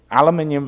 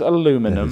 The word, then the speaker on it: aluminium: this up oh you say that again it aluminium versus aluminum so it's spelt differently by the way really yeah and